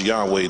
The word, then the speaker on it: Yahweh: This Yahweh is in Hebrew script has no vowels, and the Hebrew Bible is pronounced Yahweh, Jehovah, in the English translation, which means that